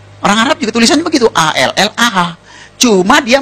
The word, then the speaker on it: Allah: Kalau kita cukup Allah gitu. Kayak bercanda sama teman aja, Allah lu gitu aja tersinggung gitu ya. Kayak begitu, ringan gitu. Bacanya itu ringan. Tapi kalau mereka itu terpengaruh dengan bahasa Arab. Jadi gak ringan, Allah.